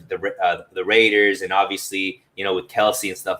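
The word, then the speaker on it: Kelce: Yeah, I think in the NFL right now it's Kelsey, Kelsey.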